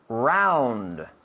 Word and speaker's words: round: Round no vale. Round. D. Con la D.